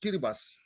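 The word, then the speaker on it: Kiribati: a lot of it's called kiras it's called kibas kibas not t the t is the T is uh pronounced uh yes yeahi heras they are micronesians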